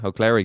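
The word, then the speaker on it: Ó Cléirigh: Am I saying it right? Yeah, O'Cleric, yeah. It's Irish for Clark.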